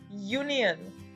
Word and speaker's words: union: escrita tienen como la primera letra en la pronunciación una consonante y por eso exigen los artículos de y e. El ejemplo es union, la unión en español.